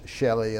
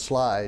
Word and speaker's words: Schley: And people pronounce it all kind of different funny ways, Shelley and all that, but it's Sly, as you know.